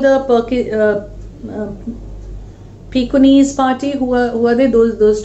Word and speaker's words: Pekingese: Meanwhile, the Pekingese, that's the way we pronounce it.